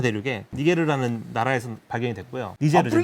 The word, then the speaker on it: 니제르: 니제르죠, 니제르. 라틴어식으로 발음하면 이제 니게르사우루스가 되는 건데 머리가 되게 특이해요.